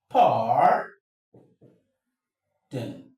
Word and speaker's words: pardon: You can see the stress is coming to the first.